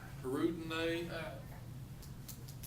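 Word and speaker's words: Hirudinea: Hirudinae, That's how it's pronounced.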